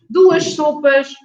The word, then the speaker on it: sopas: So the S at the end is pronounced as sh.